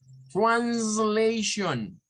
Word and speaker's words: translation: O sea, siempre que vean estas palabras al final, esa terminación de esas 4 letras, siempre recuérdense que suena a shon. Translation.